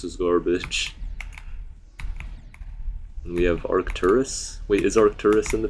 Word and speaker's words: Arcturus: There's an arc and then there's a turus. You know it's a star and I'm I'm pronouncing it how you pronounce the star.